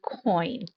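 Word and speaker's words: quoin: known for is a coin. I know it looks like it would be some other kind of pronunciation, but that q is the k sound and it is a coin.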